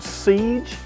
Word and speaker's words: SEEJ: It's called SEEJ, and that's spelled S-E-E-J.